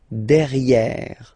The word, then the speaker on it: derrière: So if you look carefully, you've got E here and then double R, so it will open the sound of this E, and you should pronounce it E, okay? De, derrière. Same thing here, you've got this E accent grave, E, derrière, okay? Don't pronounce the final E.